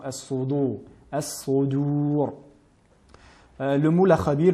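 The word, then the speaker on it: الصدور: Nous avons souvent tendance à les entendre prononcer de manière emphatique al-qubur, mais bien al-qubur et as-sudur et non as-sudur.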